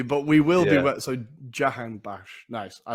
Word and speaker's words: Jahanbakhsh: And obviously in Holland they don't pronounce the J, so they pronounce it as a Y.